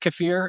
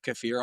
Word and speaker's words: kefir: I believe it is properly pronounced kefir, and I think I sound more educated and cooler, so we're gonna roll with that being the proper pronunciation. I feel like kefir's like the American version, but kefir, kefir, whatever